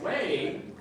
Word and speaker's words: whey: And whey, like saying, no way, W-A-Y, it's pronounced the same way.